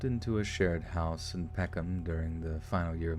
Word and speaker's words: Peckham: Pronounce Peckham. Peckham. Oh yeah, that's exactly it. 2 syllables. Peckham.